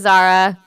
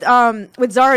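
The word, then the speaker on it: Zahra: This is Zara.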